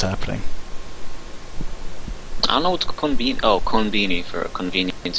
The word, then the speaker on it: konbini: Yeah, it's the con and convenience, and Konbini. but the vini is pronounced with the beanie. Konbini.